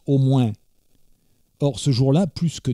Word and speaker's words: au moins: Car il faut vous dire qu’à Tarascon toutes les phrases commencent par et autrement, qu’on prononce autremain, et finissent par au moins, qu’on prononce au mouain.